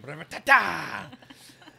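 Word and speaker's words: Brevettata: Brevetata!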